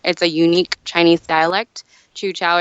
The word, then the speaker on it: Teochew: Chu-Chao, it's otherwise known as Teochew, which is spelled Teo-Chehew.